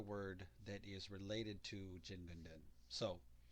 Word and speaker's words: Jingunden: that is related to jin gunden so jin gundin also can be pronounced shin gundin if you remember that from the previous video both pronunciations are valid both pronunciations are legitimate but we are using